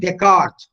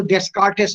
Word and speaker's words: Descartes: We find Descartes, the famous French philosopher. এটা উচ্চারণকে কিন্তু ডেসকার্টেস করো না, স্টুডেন্টসদের বলছি, DESCARTES, Descartes.